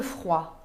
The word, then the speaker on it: froid: Un bonnet pour le froid. Não se pronuncia o T. Não é bonnet, é bonnet. Bonnet, un bonnet. E também temos a palavra froid. Froid significa frio e não se pronuncia o D final.